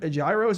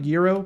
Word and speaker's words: gyro: It's pronounced like hero kind of. Oh, like gyro probably.